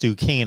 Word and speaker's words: Duquesne: next three seasons next year it'll be uh ducane and keynes how how do we pronounce that there mark with school in pittsburgh it's a basketball school there it's pronounced duquesne i don't know what their uh mascot is